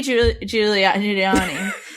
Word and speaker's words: Giuliani: article this week did you know that rudy giuliani that's how he pronounces it uh first marriage was annulled after